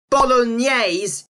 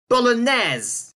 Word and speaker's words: Bolognese: And this is a French word, so it should be Bolognese instead of Bolognese.